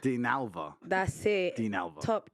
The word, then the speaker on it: Dinalva: I can't pronounce it. Dinalva. Dinalva.